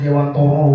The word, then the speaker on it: Dewantara: Ya, bacaannya Dewantara, tapi kalau kata istriku bacanya harus Dewantoro walaupun tulisannya Dewantara, karena itu memang dari bahasa Jawa katanya.